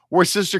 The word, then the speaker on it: Worcester: Worcester, W O R S T E It's not pronounced the way it's spelled. This messed up. Now, that I did not know. Thank you. I was not faking you on that one. I'm not. Worcester County, Massachusetts.